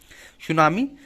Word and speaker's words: tsunami: सुनामी एक जापानी शब्द है जिसमें टी साइलेंट रहता है।